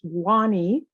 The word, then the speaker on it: Wahne: street and call you Wayne. Yes. So my name is a Liberian name. It's pronounced Wahne.